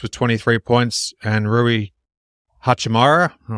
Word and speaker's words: Hachimura: We've got Austin Reeves with 23 points and Rui Hachimura. Hachimura. You got it. Yeah, got his pronunciation okay.